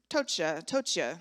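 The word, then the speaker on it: πτωχεία: And then there's another word, tochia. So I'm assuming the P is silent, P-T-O-C-H-I-A.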